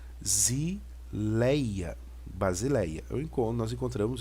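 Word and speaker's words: βασιλεία: equivalência o b o Beta é b Alfa a Sigma s o iota e lambda som de L O Eta som de eta som de e o alfa som já então isso aqui a pronúncia vai ficar bazileia Basileia eu encontro nós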